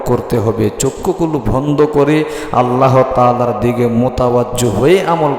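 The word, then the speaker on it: عَلَى: বললে কিন্তু হবে না আইনের উচ্চারণ সঠিক ভাবে আপনাকে করতে হবে আল্লাহুম্মা সাল্লি আলা মুহাম্মাদি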